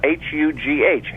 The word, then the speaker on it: Hugh: the first name though h u g h Hugh you know the H is there but you're not actually saying it as much as you are in the word huge there may be something